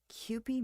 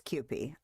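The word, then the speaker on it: Kewpie: Rice Krispies takoyaki sauce Cy Mayo is that how you pronounce that that's probably not how you pronounce that pronunciation give it to mey it is cupy okay all right good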